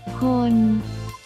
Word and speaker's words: คน: 第二个词是坤，这个比较简单，发音类似中文的坤，就是人的意思。